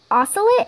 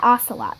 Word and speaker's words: ocelot: cat it's a Minecraft oscillate is that how you say it also yeah that that is her minecraft yeah Ocelot that is our icon